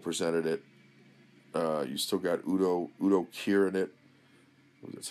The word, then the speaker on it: Udo Kier: You still got Udo Kier in it. That's how you pronounce his name.